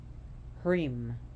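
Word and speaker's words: hrim: Asheboro her Mantra is divija the seed mantra cream h-r-i-m interestingly enough that Harem can be used for the Myriad of goddesses Kareem give me that cream is the feminine own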